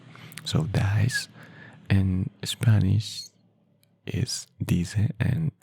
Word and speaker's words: dice: Dice. In Spanish, the pronunciation is dice.